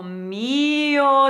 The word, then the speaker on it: mio: So the rhythm is O mio tesoro. So the mi of mio is the important syllable.